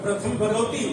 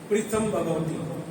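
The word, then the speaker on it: ਪ੍ਰਿਥਮ ਭਗਉਤੀ: जो शब्द है ना पप्पा, पप्पे के नाल लगी सियारी और पप्पे के पैर दे विच लग्या रारा, ਇਹਦਾ ਕੀ उच्चारण करोगे? प्रथम भगवती नहीं, प्रीतम भगवती। वो जिहड़ी सियारी है ना वो रारे दे नाल बनाउणी है।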